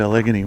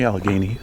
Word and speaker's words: Allegheny: I've only been to Algony once before. Or sorry, Alagany. I I've had to look up how that's pronounced exactly, but apparently Alageney is correct.